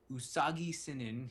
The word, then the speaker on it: Usagi Sinin: And the only reason I'm talking about this is because Usagi Sinin, he says is how to pronounce his name.